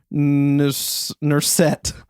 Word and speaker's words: Nusr-Et: is called Nurset.